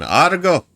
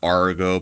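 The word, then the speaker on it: Agro: Art go. We have to say it like that. Not Argo, but go. Or you can whistle at it, too.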